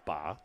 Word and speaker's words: Bey: would be miles Bey yeah ba my apologies there ba is the correct pronunciation second and a